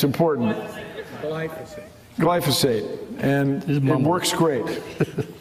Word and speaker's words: glyphosate: glyphosate it doesn't quite I didn't say it right it's a gly word and it's important glyphosate glyphosate and it works